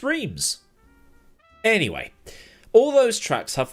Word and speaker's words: Reims: Okay, let's find out how this place is actually pronounced. Well, what do you know? I was right all along. It's Reims.